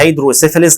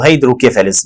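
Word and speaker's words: hydrocephalus: والناس اللي عندها تضخم في البطينات يا اما بننطقها هيدروسيفاليس او هيدروكيفاليس بالسين او بالكي، زي مثلا بنقول MR بلفج او MR بلفز.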